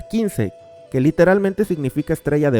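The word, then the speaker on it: 金星: Es el dios guerrero de las finanzas, y este hecho se refleja en que el planeta que representa, Venus, en japonés se pronuncia Kinsei, que literalmente significa estrella de oro o de metal.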